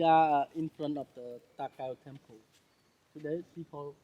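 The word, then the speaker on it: Ta Keo: Okay, now now we are in front of the Takao temple. Today people call the temple here Ta Kao. It's spelled T-A Ta, that means old man. Kao, the name of the old man. K-E-O, Kao, right.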